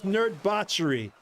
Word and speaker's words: Nerdbauchery: right yeah the the pride the word is nerd botchery n e r d b a u put